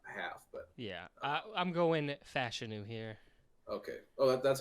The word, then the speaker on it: Fashanu: I don't think he falls out of the top half, but yeah, I'm going Fashanu here.